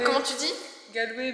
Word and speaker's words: Galway: À Galway. Comment tu dis? Galway, mais apparemment c'est Galway. Galway en anglais. Faut le prononcer à l'anglais en fait.